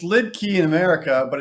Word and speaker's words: Liedtke: one he is Eric and I believe it's pronounced Leaf key is that right it's lid key in America but it's lit cut in in German okay cool um I I